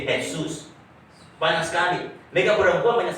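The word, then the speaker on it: Jesús: Tulisannya Jesus, J-E-S-U, tapi bacanya J-nya bisa baca H, jadi Jesus.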